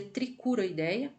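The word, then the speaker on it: Trichuroidea: Se escreve Trichuroideia, se lê Tricuroideia.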